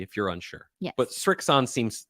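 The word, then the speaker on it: Srixon: There's no T in there. It's not Strixon. It's not Strixton. It's Strixon.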